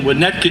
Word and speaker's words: Winnetka: I kept wanting to add an extra syllable. The guy who gave me a ride in said, try to do it with 1 syllable as much as you can, and you might get it right.